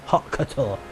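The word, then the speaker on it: haute couture: Hot couture is how you say it. Halt couture, which is basically uh saying high fashion, I guess, or um like highly elegant.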